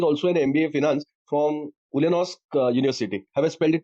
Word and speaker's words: Ulyanovsk: Sir is also an MBA Finance from Ulyanovsk University. Have I pronounced it correctly?